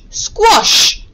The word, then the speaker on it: squash: r sound after the so the rule is after a w or a the short o sound is written as an a okay let's move on